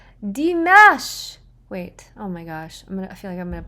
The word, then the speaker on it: Dimash: Ah that's how you say his name deash wait oh my gosh I'm G I feel